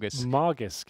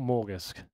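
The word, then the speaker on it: Magisk: It's Margisk, isn't it? Not Morgisk.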